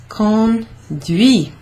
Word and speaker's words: conduit: So conduire becomes conduit. Bit like a conduit. Conduit. On ne prononce pas le T. You don't pronounce that T.